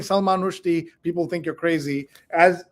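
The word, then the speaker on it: Rushdie: you know that you've also been saying another name wrong? Instead of Salman Rashdi, the way we all say it, it's Rushi. Rushi. Salman Rushi instead of Rashdi. But if you go around saying Salman Rushi, people think you're crazy.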